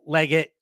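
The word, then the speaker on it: Legette: I think I call him Liget. I don't know. But that's right. There was a big thing I saw on Twitter about the pronunciation. I say Leggett. I'm sticking with Leggett.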